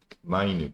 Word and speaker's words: minute: 그래서 minut이란 단위가 아니라 발음이 minute, 장음으로 발음되겠죠.